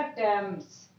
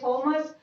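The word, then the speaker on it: Thomas: यहाँ पे पढ़ा जाएगा टेम्स। टेम्स, टा, टा का साउंड आएगा। ऐसे यहाँ हम वैसे पढ़ेंगे थॉमस, लेकिन इसका जो सही प्रोनाउंसिएशन है वो होगा टॉमस। यहाँ पर टा का साउंड आएगा, यहाँ पर टा का यूज हो रहा है।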